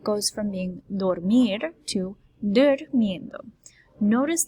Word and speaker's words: durmiendo: Notice the emphasis on that U. It's durmiendo, not dormiendo. Okay, dormiendo is not a word for us. Okay, it will not be correct. We have to make sure that we pronounce that as a U.